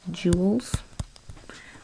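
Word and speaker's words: joule: calories or in Jewels that's pronounced like you would say Jewels but it's spelled like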